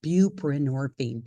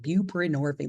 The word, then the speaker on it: buprenorphine: a learning disability and I really struggle with words that are like have a ton of syllables like that word I literally had to look in the mirror and say it when I first started this buprenorphine buprenorphine like a hundred times to get my mouth to say it right because I want to say just like pror but it it comes together so buban orine you may